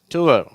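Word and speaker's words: tour: இதற்கு உதாரண வார்த்தை டுவர் ஓகேவா டுவர் நம்ம டூர் அப்படிங்கறோம் இது டுவர் அப்படின்னு சொல்லணும் இது புவர் ஷர் டுவர் ஏற்கனவே வாசிச்சதுதான் இப்ப இதுல இன்னும் சில வார்த்தைகள் இருக்கு.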